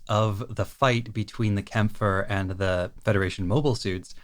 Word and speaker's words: Kämpfer: It's spelled with an A with umlauts over it, so it looks like it should be Kampfer, but I'm pretty sure the actual pronunciation is Kämpfer.